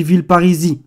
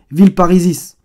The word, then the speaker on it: Villeparisis: Vous voyez bien que d'ailleurs, dans la prononciation, maintenant on dit Villeparisis. Alors que le S, il devrait se prononcer Villeparisis.